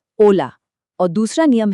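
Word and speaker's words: hola: पहला है बिल्कुल साइलेंट एच। जी हाँ, स्पेनिश में एच की आवाज नहीं निकलती, इसीलिए ओला को हम पढ़ते हैं ओला।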